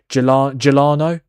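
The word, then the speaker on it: Giuliano: Gelano Simeone.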